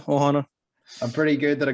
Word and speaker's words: ohana: i say it correctly is it ohana is that how it's pronounced yeah ohana i'm pretty good that